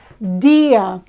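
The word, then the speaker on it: día: in the same syllable we don't separate this into D ah it's Dia however when you listen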